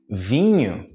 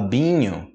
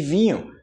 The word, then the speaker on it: vinho: são muitas vezes é muito com outra palavra vinho e falar Binho você ele Bino aí você falar em português